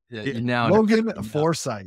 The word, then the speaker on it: Forsyth: leave that because it's funny foresight yeah there you go you know what so